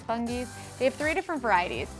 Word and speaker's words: Fungies: These, I think you pronounce this, Fungies. I think it's Fungies.